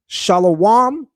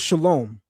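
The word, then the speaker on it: שלום: Example one, shalawam versus shalom.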